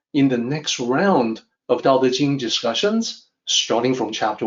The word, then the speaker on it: Tao Te Ching: When you hear me speak, you can hear that the sound I make is not Tao Te Ching. It's always Tao Te Ching, which is the original pronunciation.